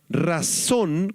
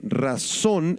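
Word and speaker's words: רָצוֹן: esta palabra voluntad es la palabra razón con acento en la o y con s razón en hebreo y se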